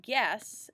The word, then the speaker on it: guess: it's the letter U you don't hear the you in these in this first column GU it just is followed by the G so go ahead and